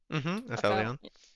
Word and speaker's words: aphelion: Aphelion.